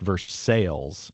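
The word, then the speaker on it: Versailles: And I think it's often pronounced verse sales.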